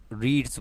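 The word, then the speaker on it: read: लेकिन रीड की past form ना बेटा लिखते इसको स्पेलिंग सेम रहती है, पढ़ते इसको रेड है। पास्ट में बेटा हम जो है ना रीड की सेकंड फॉर्म स्पेलिंग सेम रहती है, पढ़ते रेड है, ठीक है।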